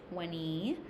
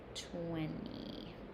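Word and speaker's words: twenty: However, native speakers, we do say 20 without the T sound. That is because very commonly in English, if there is an N T, the T is silent. Okay? At the end of a word. 20.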